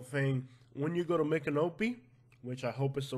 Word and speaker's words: Micanopy: when you go to make an Opie which I hope is the right pronunciation the Mik is like Miccosukee Micanopy is a name